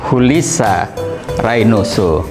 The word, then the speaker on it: Julissa Reynoso: Kalau orang Spanyol membacanya Julissa Reynoso.